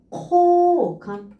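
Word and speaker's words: 好感: 쿄감 요 발음이고요. 코감 오 발음이구나.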